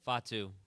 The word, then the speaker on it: Fatu: it's just going to be him babysitting Jacob Patu. And no, and and Jacob Patu, did I say it right? Did I get it right? Jacob Fatu Fatu Fatu Fate tomato tomato.